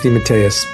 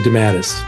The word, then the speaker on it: DeMatteis: thing here's just so you know the Italian pronunciation is Deus the family came through America it got squashed into dadus right so I accept dadus but my father